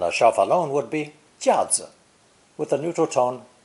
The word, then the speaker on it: 架: Our third character pairs 加 with the wood radical 木 that we saw in lesson 4, to create a new character pronounced 4th tone, 架, 架.